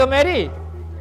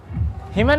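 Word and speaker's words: hymn: निंदा नहीं करना चाहिए हिम देखो यहां पर क्या है हिम हिमन नहीं पढ़ेंगे यहां पर क्या है एन साइलेंट है तो क्या होता है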